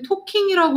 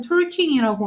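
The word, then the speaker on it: talking: 자, 발음은 워킹이라고 해. 그 가운데 L 소리 있으면 리을이 죽어버려. 우리 토킹이라고 하지 톨킹이라고 안 하잖아.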